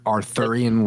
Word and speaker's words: Arthurian: Arthurian legend. Is that how you say it? Yeah, that's fine.